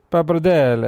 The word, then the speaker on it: pappardelle: I'm going to butcher the pronunciation. It's Pappardelle? Is that pappardelle, how right? it's Pappardelle.